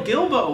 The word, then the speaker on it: Guilbeau: All right, hey everybody, this is Tyler, aka Grand Lethal 16, and today I have Guilbeau with me. Hello. Did I pronounce that right?